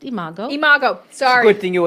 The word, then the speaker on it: imago: tell me what is amigo relationship therapy well it's pronounced imago imago sorry thing you